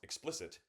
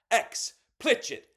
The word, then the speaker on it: explicit: It's not pronounced explicit. It's pronounced xplitch it.